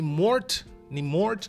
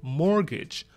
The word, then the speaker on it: mortgage: Тут «т» не считается. То есть это не «морт», просто «more», «mortgage», «mortgage», «mortgage».